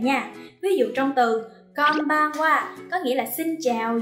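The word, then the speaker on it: こんばんは: Konbanwa.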